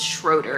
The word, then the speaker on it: Schroeder: I don't even know where the owl came from, but it's Schroeder. It's literally pronounced how it's spelled, and I was still messing it up.